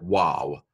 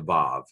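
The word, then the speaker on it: וָו: an O here but this letter is called evolved I'm going to save of some pronounce it Wow but I'm pronouncing it like modern Hebrew so I'm gonna go with the Bob this is another nun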